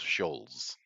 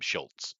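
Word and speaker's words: Schulz: just so you know according to the Mandela effect it's technically pronounced Charles scholz ahh oh yeah even though every single American I've ever met calls him Schultz so I don't know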